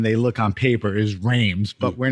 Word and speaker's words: Reims: He goes, "Nothing of what he goes. It's Reims." Reims. So don't say that. Okay. So he's a native of Reims, which to many people,